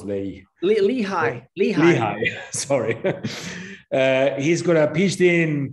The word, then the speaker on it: Lehigh: foreign public policy in Health Institute at Lehi University I'm not sure how to pronounce Lei Lehigh Lehigh sorry uh he's got a pitched in